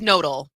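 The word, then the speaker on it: Knodl: talk about, it is nodal. It's not canodal, which is, I was really saying it's so much more fun to say Dan Canodal than nodal, but I was corrected. It is Dan Nodal.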